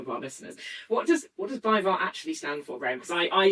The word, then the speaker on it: BayWa: If you've heard of Bayern Munich or Wolfsburg, particularly big in the women's league in Germany, we can pronounce BayWa. BayWa, yeah, excellent.